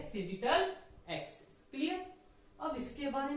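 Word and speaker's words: sagittal: सेजिटल, और जैसे हम प्रोनाउंस करते हैं सेजिटल एक्सिस।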